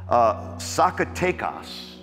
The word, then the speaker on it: Zacatecas: But he's in a city called Zacatecas. Almost sounds like takeout.